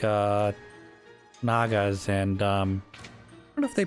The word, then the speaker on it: Naga: fine it's the spirit nager I should say Naga how it's pronounced Naga that's definitely one of